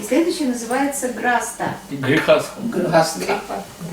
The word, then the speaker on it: Grihastha: Grihastha. How do you say it? Grihastha Грхаста.